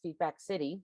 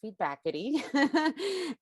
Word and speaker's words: Feedbackity: service steve bakity which at first i kept mispronouncing as feedback city but it is feedbackity and it is a fantastic screening service that